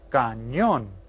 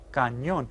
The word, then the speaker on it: cañón: Only in Spanish it's spelled cañón. Cañón. Because remember that ñ? I told you it sounded like an NY together.